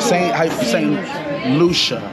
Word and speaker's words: St. Lucia: St. Lucia. That's how you pronounce it.